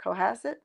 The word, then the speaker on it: Cohasset: Cohasset.